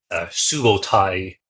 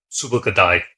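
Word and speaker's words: Subutai: the famous General sub subotai you might see his name rendered as but subai is probably the closest to the 13th century pronunciation Mongolian um they have just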